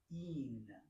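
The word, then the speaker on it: ἐν: Okay, this is pronounced een. Een. This word is very difficult because these 2 letters are very difficult. But it's all over the place, and you'll see it a lot. So it's pronounced E-N. Een.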